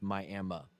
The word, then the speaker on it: Miami: There was a casino, a few of them in um and it's it spelled Miami, but it's Miami, Oklahoma.